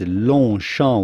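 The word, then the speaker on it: Longchamp: french pronunciation so long note that the g and the p are at launcher are silent as is often the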